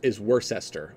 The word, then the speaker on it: Worcestershire: in my first analysis I said lie Chester it's never the case for UK names whenever there's like like Worcestershire is worse Esther or you know Worcester